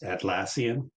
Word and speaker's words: Atlassian: Carlos thank you sir the uh proper pronunciation of that company is atlassian just for reference so